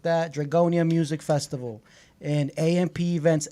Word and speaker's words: Dragonia: Dragonia is spelled D-R-A-G. Oh, N-I-A. Hey, you more gotta be you know. Dragonia. Yeah, you gotta let people know because People they gonna be like, drug on?